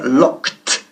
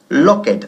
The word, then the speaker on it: locked: El verbo, por supuesto, es regular, to lock, pero se pronuncia locked y no locked, ¿ok? El ed al final se pronuncia como si fuese una T fuerte.